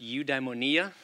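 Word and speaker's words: Eudaimonia: of the University's new udonia Institute that is how it is pronounced udonia that is Aristotle's word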